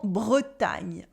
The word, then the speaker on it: Bretagne: reminder of French pronunciation, G and N letters make the sound ñ. Repeat after me. Bretagne. Good. And like l'Ardèche, this region is feminine as well. We say la Bretagne for Brittany. La Bretagne.